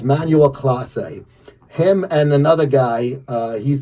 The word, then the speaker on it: Emmanuel Clase: This guy, he's their closer, 3-time All-Star, Emmanuel Clase is the pronunciation. I had to ask Jimmy, how do you pronounce this guy's name? Because it's close. I didn't know. So it's Emmanuel Clase.